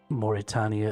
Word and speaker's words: Mauritania: Also, Mauritania is pronounced with the other longer A.